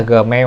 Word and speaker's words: Gmail: cái tự làm Gmail Gmail Gmail à mà phát âm đúng và gọi Đúng chính là Gmail Ừ mình không cần nhấn nhá chữ vậy